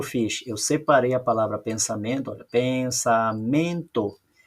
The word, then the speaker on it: pensamento: Eu separei a palavra pensamento, olha, pensamento. A sílaba tônica de pensamento é o men.